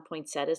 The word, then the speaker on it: poinsettia: now i'm adding some poinsettias to the page or you may pronounce it poinsettia in my area we say poinsettias even though there's an i in there and it probably should be poinsettias anyway it must have